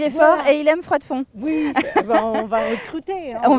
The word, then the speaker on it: Froidfond: Froidfond. On prononce Hervé, il faut noter.